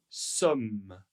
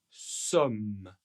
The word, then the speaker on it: sommes: Nous sommes nous sommes et bien en fait ces deux lettres le E ne sont pas prononcés. Mais attention, 1 m 2 m. Ici, nous allons prononcer le M de manière longue.